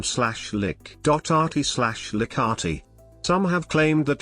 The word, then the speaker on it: Likert: pronunciation rensis leica the developer of the scale pronounced his name slash lick.rt liccati some have claimed that like its name